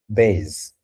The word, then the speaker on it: base: It sounds as S, but when it is used it is between two vowels, it's going to sound as Z, as Z. Okay. For example, in Okay. the word base, Okay.